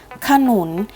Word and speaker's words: ขนุน: เท่า นั้น นะ คะ ขนุน อ่าน ว่า ขนุน คำ ว่า ค่ะ เรา จะ อ่าน ออก เสียง เพียง แค่ กึ่ง เสียง เท่า นั้น นะ คะ ฉลาม อ่าน ว่า ฉลาม